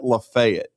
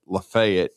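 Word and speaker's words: LaFayette: He won a state championship at Lefayet. That's how you say it. Lefayet uh in 2015, played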